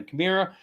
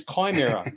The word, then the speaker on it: Chimera: ship he'll jump in the Camaro I think it's Chimera last week we're trying